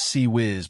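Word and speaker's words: CIWS: The CWS, pronounced sea whiz by the crew, was the ship's last line of defense against incoming aircraft and missiles.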